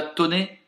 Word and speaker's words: Thônex: c à genève a tonné c'est ça ça s'écrit thônex mais ça se dit sonné je crois lucky fanbase ballu kiffan